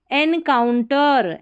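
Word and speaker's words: encounter: When you एन, EN को एन पढ़ना, इन नहीं पढ़ना, EN को, ई को देखते ही ई आ जाए उच्चारण में, नहीं।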